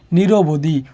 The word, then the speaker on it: নিরবধি: একটু খেয়াল করি নিরবধি, নিরবধি উচ্চারণ কি করতেছি, নি যোগ বদি করতেছি না, নির যোগ অবধি, নিরবধি।